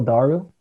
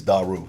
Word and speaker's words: Daru: Now, I have always pronounced your name Phil Daru. But then we did that podcast with Dolce. He was saying it Daru or something.